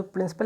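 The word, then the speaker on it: principle: हैं प्रिंसिपल का, तो दोनों का उच्चारण एक जैसा होता है। प्रिंसिपल की बात करें या फिर हम प्रिंसिपल, ठीक है, प्रिंसिपल की बात करें, दोनों का मतलब अलग होता है, उच्चारण हालांकि एक होता है।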